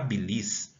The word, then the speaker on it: bílis: que que acontece aqui qual que é a sílaba mais forte então aqui eu precisa reconhecer a palavra que não existe Belize e simples a sílaba tônica é o pe dessa maneira se ela tá na penúltima sílaba Então ela é uma paroxítona Agora se a palavra